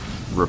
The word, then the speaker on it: riposte: Okay, so Tannen just educated me on Fiora is how you pronounce her W, and it's riposte, and that kind of makes sense. I've heard several different ways of pronouncing it, but thank you, riposte.